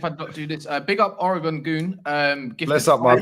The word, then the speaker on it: Oregon: you mind if I do this big up Oregon goon um bless up my boy BL up is is it oron or is it Oregon it's Oregon is in America is in Oregon America bro